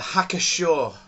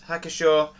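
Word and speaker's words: Hacker-Pschorr: a bottle of the hacker Shore I pronounce it hacker Shore October Fest beer thanks you pronounced that I assume p is silent hacker Shaw um October Fest beer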